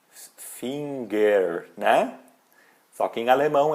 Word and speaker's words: Finger: tem ali um n Finger né só que em alemão essa pronúncia vai o g não aparece tem uma pequena e